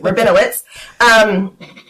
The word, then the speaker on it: Rabinowitz: Rabinowitz.